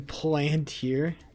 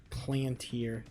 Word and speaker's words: Palantir: All over TikTok that we're going to war and invest in Palantir. Uh-oh. Uh-oh. Palantir. Or... That's not how you pronounce it. Palantir.